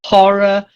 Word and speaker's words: horror: I know it's hour, it's a silent H, but horror, it's a voiced H, unless you come from Nottingham, in which case you say, oh, the horror.